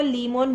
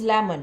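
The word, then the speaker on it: lemon: है तो उसको वो लीमोन बोलते ही करेक्ट प्रोनाउंस करेगा। That is लेमन नॉट लीमोन।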